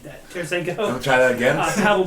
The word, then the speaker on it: Tarasenko: And yeah, just to name a couple other ones, Artemi Panarin, Vladimir Tarasenko. Why did I say it like that? Tarasenko.